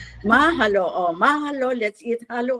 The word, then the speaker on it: mahalo: Mahalo or how do you pronounce it? Mahalo. Mahalo.